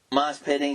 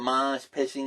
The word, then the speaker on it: mosh pitting: And then it's like, she mispronounced mosh pitting. He called it mosh pitching. He said, that's what they do in Australia. Here in America, they also have their own style called mosh pitting.